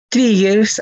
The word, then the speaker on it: trigger: Acá se pronuncia con I. Trigger.